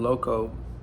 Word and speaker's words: Eloseeoh: His name was Louis Loco, and when he passed, I used his name Loco in his memory, but I spell it different. So LOCO. I spell it ELOSEEOH, but it's LOCO, like LOCO.